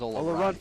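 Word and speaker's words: Olorunfunmi: Ask Colin how to say it. Bolu Olorunfumi. He says Olorunfumi.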